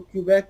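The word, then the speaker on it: Quebec: نام کیوبیک ہے۔ ہمارے لوگ اکثر اس کو کیوبیک بھی پڑھتے ہیں، لیکن یہاں پہ تلفظ جو ہے وہ کیوبیک اس کو کہا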